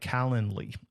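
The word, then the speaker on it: Calendly: Then you can get up uh set up a tool like Calendarly. It's like calendar, but not Calendar. It's calendarly.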